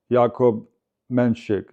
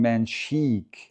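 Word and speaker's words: Jakub Menšík: And when I listen to Mench, Jacob says like Yakob Menik. Yakob Menshik. Yakob Manik. That's what it sounds like to me. So, I just try to say it like that. But on TV here in the US there, everybody's saying manchik. Manchik, man. I refuse to say that. That's not right. I It can't be right in Czech because check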